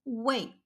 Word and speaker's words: 为: This Chinese character can be pronounced as wei or wei. This isn't a random pronunciation change, it's a change in the direction of the relationship. Let's give them clear personalities. Wei, fourth tone, is the giver.